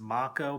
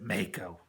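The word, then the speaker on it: Mako: blinking pipe that's got them I know it's pronounced Mach o but I always pronounced it make o it was kinda like the the actor and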